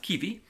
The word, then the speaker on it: Kiwi: It's Kiwi, but it's pronounced Kiwi.